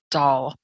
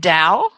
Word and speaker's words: Dahl: name oh is it dao no doll rhymes with shaw but my first name